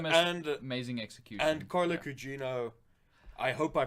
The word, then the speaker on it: Gugino: that's Stephen Kingdom and amazing execution and Carla cugino I hope I pronounced that correctly yes carla Gugino is phenomenal she carries well because she's basically